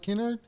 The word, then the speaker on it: Kynard: to say it because i wanted the correct pronunciation i didn't want it did i say did i say it right kennard uh yeah canard i mean you're saying it right okay